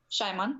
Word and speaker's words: Schyman: Garry Schyman shimano Simon how do you pronounce Oh Garry Schyman yeah Shimon yeah yes we studied